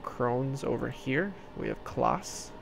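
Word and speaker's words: Claas: We have Klaas, spelled, I think it's Klaas. It's spelled C-L-A-A-S.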